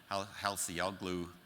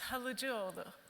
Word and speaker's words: Halıcıoğlu: And she's a fellow of the Halseyoglu Data Science Institute. And Ilkay, who's Turkish, can come up here and pronounce that correctly for me.